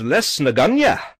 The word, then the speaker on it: Lisnagunogue: you have to so the locals refer to this as this is less naganya which is probably not